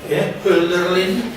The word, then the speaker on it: Hölderlin: En cambio, hay otros pensadores, íntimo amigo de Hegel, Hölderlin, no os asustéis por los nombres, esto es bastante fácil de pronunciar, ¿eh? La H inicial en alemán es una especie de aspirada andaluz, Hölderlin y Hegel.